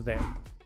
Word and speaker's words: there: La palabra there empieza con el sonido de la TH, la lengua entre los dientes. Después se pronuncia la E y luego la R. La E al final es muda.